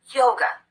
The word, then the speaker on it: yoga: happens with the word yoga the second syllable is unstressed we replace the letter A with the unstressed vowel the uh sound and we get away from that syllable as quickly as we can yoga yoga in my